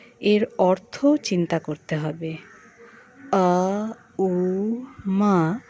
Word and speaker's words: ওম: অর্থ চিন্তা করতে হবে আ উ মা এইভাবে ভাগ করে এই উচ্চারণ করতে হবে উচ্চারণ পেট থেকে উচ্চারণ বুক থেকে এবং মা উচ্চারণ থেকে অনুভব করতে হবে এটি এরপর ভ্রমর